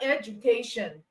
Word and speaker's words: education: word education is K CA so you have education okay education so the K is produced or pronounced louder it's pronounced longer and pronounced with